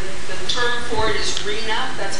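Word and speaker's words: RHNA: is H the the term for it is Reena that's how it's pronounced it is a government code it's been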